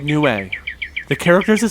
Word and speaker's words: Nue: It's why it's called Nue. The characters that spell it in Japanese are night and bird.